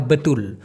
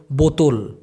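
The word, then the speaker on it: betul: Malaysian ভাষায় বলা হয় বেতুল এই সঠিক অথবা সত্য দুইটাকেই মালয়েশিয়ান ভাষায় বলা হয় বেতুল অনেকে ভুল করে বলে বোতল বোতল তা কিন্তু হবে না হবে হচ্ছে বেতুল তাহলে সঠিকের বিপরীত শব্দ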